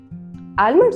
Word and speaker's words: almond: Do you like almonds? Almonds होते हैं? No, it's almonds. L is silent here.